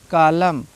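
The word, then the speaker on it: column: लेते हैं ठीक है किसी भी वर्ड में एम और एन दोनों साथ में आए हैं तो एम और एन में एन साइलेंट हो जाता है एम और एन अगर एक साथ आए हैं तो एन साइलेंट होता है लेकिन याद रहे एम के बाद एन आया होगा तभी साइलेंट होगा ठीक है ऑटम इसको ऑटम नहीं पढ़ा जाएगा कॉलम ठीक है डैम हाइम हाइमन नहीं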